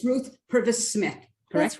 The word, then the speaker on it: Purves: practice your middle name uh pervs or purpose it's purvis and it's and it's my